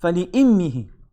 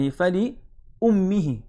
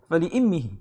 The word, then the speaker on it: فَلِإِمِّهِ: And فَلِأُمِّهِ, like you're saying a kasra, then a dhamma, then a kasra. So in order to make it flow, فَلِإِمِّهِ.